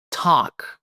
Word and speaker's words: talk: E como variação, em vez de ver, conversar, que temos o verbo conversar, talk. O L é silencioso. Talk. Isso. E o A tem mais um som de O, né? Talk.